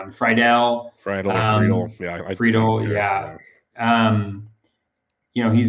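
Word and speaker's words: Friedl: I don't know how to pronounce his name. Friedel.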